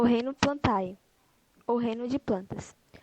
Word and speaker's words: Plantae: As plantas constituem o reino Plantae, ou reino de plantas, o qual subdividido... Só. Reino plantê. A pronúncia é plantê.